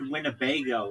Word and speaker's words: Winnebago: Just the word Winnebago is like funny. It's Winnebago. It's four um syllables.